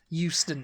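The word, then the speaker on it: Euston: be H yeah H but you guys have a Houston and it's e u s t o n Houston yeah well Houston Station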